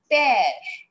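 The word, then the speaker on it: père: changes like for example the word is p e r e what is it p e r e the pronunciation becomes pair what sound it's giving it is giving air sound here it was a sound here it is air sound is that clear clear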